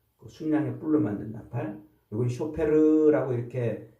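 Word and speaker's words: שופר: 이건 쇼페르라고 이렇게 발음하는데 요 나팔은 전쟁할 때 써요.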